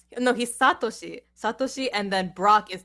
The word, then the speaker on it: Satoshi: ah ash ketchum in japanese it's like how takashi no he's satoshi satoshi and then brock is takishi and i